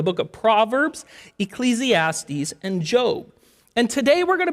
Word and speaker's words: Job: name is job now if you're new to the Bible maybe you called him job but his name is job okay it's spelled j